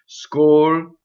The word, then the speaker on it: scolpisci: When you sing, it has to be divided like this. If you have three syllables, you have three notes, and you have to do this: scolpisci. And in fact, the sh is considered a double consonant by Italians, right? So scolpisci. It's very strong.